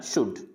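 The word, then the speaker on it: should: शुल्ड नहीं पढ़ना है, शुड।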